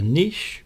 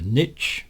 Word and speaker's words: niche: The audience is sometimes called a niche or a niche depending on your pronunciation.